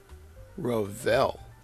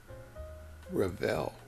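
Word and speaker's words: Revell: Rall. And that, by the way, is how it's pronounced.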